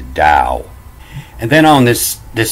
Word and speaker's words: Tao: and you'll see that the pronunciation of this tale is the dao and then on this